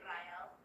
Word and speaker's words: Ryel: Um, but how you would pronounce if you were in my in my head is you would roll the R and say Ryel.